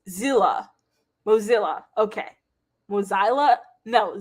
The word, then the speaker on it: Mozilla: it i was like i kept saying modzilla and it's like mozilla all right so then